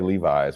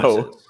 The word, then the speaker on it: Levi's: trunk full of bootleg Levi's, would nobody stop you? Just spelled like Will Levis. Hey man, you want some Levises? You mean Levi's? No, No, Levises. I mean Levis's.